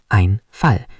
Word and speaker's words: Einfall: Pronunciation, der Einfall.